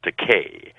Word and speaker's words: Takei: into English has expensive but my name is pronounced Takei and no producer likes to call an actor